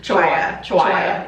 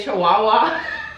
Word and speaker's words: Chiwaya: Sara how do you say your last name chihuaha okay I also want to say Chihuahua is so closer to Chihuahua and then I